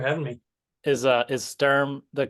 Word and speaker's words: Stirm: yeah thanks for having me is uh is Sturm the correct pronunciation for your last name or you got